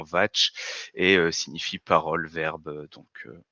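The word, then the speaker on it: vāc: mot est une écriture vient du sanskrit se prononcent théoriquement vatche et signifie parole verbe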